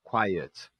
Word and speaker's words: quiet: Como é que eu posso entender o quiet? Perceba que são duas sílabas, né? Quai e cai pro ut. Quiet.